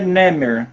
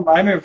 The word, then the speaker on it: Nemer: a tábua de neimer na verdade é Nemer né mas a gente na na pronúncia correta né é Nemer mas a gente fala naimer ficou meio aportuguesado assim né e e coloquei